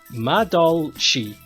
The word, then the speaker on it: Madolche: Madolocky? Could somebody put in the phonetic way of saying that? I'm struggling. I am struggling to pronounce that. Madolche.